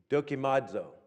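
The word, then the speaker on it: δοκιμάζω: word proved here d-o-k-i-m-a-d-z-o is the pronunciation with the accent on the d dokimodzo okay and if you're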